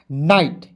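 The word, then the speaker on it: night: एन का नौ लिख दीजिएगा और IGHT है तो इसका उच्चारण आइट के रूप में करेंगे, हो जाएगा नाइट।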